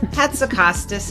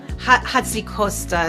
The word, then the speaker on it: Hatzikostas: H. Hatzikostas is how we say it in the U.S. Hatzikostas is how you say it in the Mediterranean. And honestly, anything else is totally fine.